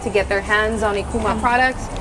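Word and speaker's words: Ikooma: And so I was like, okay, it sounds like I-K-O-O-M-A, and that's how the name came about.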